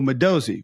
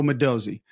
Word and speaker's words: Modozie: Georgia cuz it's Elo Mosozi, which I thought it was Elo. I was pronouncing incorrectly apparently. Elo Madozi.